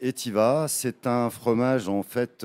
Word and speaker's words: Etivaz: Comme vous pouvez le voir à l'écran, ça s'écrit donc Etivaz. Donc, on ne prononce pas le Z. C'est Etiva.